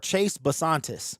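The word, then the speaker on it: Chase Bisontis: So with the 34th pick in the 2026 NFL draft, the Arizona Cardinals select the guard Chase Basantis.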